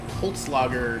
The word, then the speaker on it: Holzlager: we came out to visit the guys at Holtz logger am I saying it right you are than